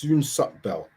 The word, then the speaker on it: Soonsup-Bell: Sorry for getting his name wrong and calling him Soot-Bell. It's not Soot-Bell, it's Soonsup-Bell.